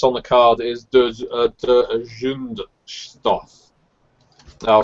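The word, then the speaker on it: Zündstoff: The club that's on the card is de Zundstoff. I'll spell it.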